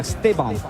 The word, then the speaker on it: Esteban: Estará Esteban, sí, es la pronunciación correcta, Esteban, que tendrá un partido especial porque hay que remarcar que el Chelsea ya compró su pase.